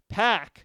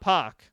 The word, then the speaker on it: PAC: card in my opinion pack not puck apparently I've been pronouncing it wrong puck it again PAC